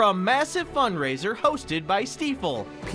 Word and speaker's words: Stifel: Because people can pronounce Stifel now versus Stifle or Stuffle or whatever they do.